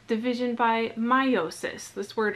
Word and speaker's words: meiosis: that's called division by meiosis this word right here looks it's spelled a little bit funny but it's pronounced meiosis and again we're going